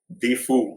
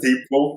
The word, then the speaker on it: Difu: Difu. It's spelled Difu. Difu. Oh, it's Difu. Yeah, that's what I thought. Okay. Yeah, even we Okay. thought it was Deepu in the beginning, Yeah.